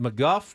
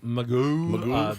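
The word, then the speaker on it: McGough: the Diamondbacks, was it McGuff that they brought in at the end that dusted Fernando Tatis Jr.? It's spelled like McGow. Yeah. Magoo. But Magoo.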